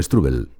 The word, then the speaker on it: Strubel: Pues lo mismo digo, no sé si he pronunciado bien tu apellido, Strubel. Sí, perfectamente. Es un apellido austríaco un poco complicado, aunque yo soy español, nacido y criado aquí, pero la gente, bueno, suele pronunciarlo no tan bien como tú, la verdad.